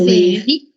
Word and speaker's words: riz: On ne prononce pas ici le Z, hein? Donc ça fait riz.